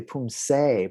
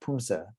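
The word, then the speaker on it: 품새: So not really Poomsae, but Poomsae. It sounds like Poomsae.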